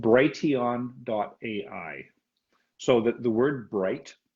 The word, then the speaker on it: Brighteon: The one that I like the best, and I'll say it and spell it out for you. And so write this down. It's called Brighteon.ai.